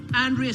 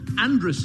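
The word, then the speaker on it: Andreas: In the north, Andrea still being pronounced Andrus by those who want to sound Manx, even though they aren't.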